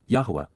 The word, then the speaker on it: Yahowah: Yahweh Yahwa the proper pronunciation of the name of Eloha God as directed in